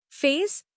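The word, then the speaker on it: FAISS: Face, pronounced face, for vector search.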